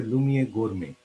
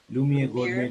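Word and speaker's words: Lumière Gourmet: So probably you can, I can just spell it very slowly. For it's called LAUMIEREGOURMET. It's a Lumiere Gourmet, Lumiere Gourmet.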